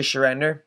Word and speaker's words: Shender: my name is Mr shender I know it's a tough name to say it rhymes with surrender that's what I always